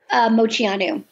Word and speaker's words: Moceanu: Is it, how do I pronounce their name? Moceanu? Moceanu.